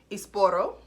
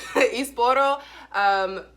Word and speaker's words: Esporão: So today we are having an Esporão, let me say it right, Esporão, yes, Esporão Reserva 2015.